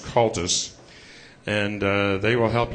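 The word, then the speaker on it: Comhaltas: not look like I'm pronouncing it but it's pronounced culus and uh they will help you get started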